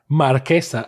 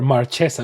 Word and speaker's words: Marchesa: So that's why I'm going to pronounce her as Marquesa and never Marchesa, because Marchesa sounds just like, what's she doing? Marching?